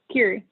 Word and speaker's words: Kyrie: You know, and when you were talking about that, Kyrie, is it pronounced Kyrie or Kiri? Kiri.